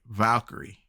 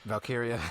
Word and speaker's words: Valkyria: But right now, I'm not feeling Lyra Valkyrie, whatever how you pronounce her name is. Valkyria.